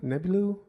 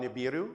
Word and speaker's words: Nibiru: Um, also I'm probably not going to pronounce it right, but um, Nebu, Nebulu, it's a you're talking about Nibiru.